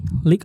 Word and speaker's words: League: Yang jelas sepatu lokal dari League. Bacanya League ya, bukan Lea gue. Bukan, League.